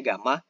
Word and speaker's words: gamma: Nah, dia ini akan berubah, akan masuk ke daerah yang hurufnya ini mirip Y teman-teman ya, tapi bacanya gamma.